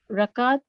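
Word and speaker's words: ركعة: Rakat, part of Salah in Rakat. Note that the Raka'at. Note that the second letter ka has sukoon in the singular and fatha in the plural.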